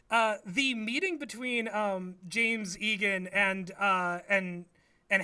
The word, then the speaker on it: Jame: it's it's worse but his name is actually just Jame I see I thought